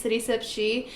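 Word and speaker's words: CitySipChi: I have an Instagram, so if you want to follow me, it's CitySipShe. And the she part is spelled CHI because it's Chicago.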